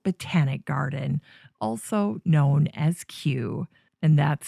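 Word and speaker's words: Kew: of a royal botanic garden, also known as Q, and that's spelled KW.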